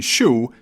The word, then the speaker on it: sz: English does the same thing, except instead of using S and Z, it uses S and H, like in shoe, shenanigans, or shower, which you haven't taken for too long, and I can smell you from here.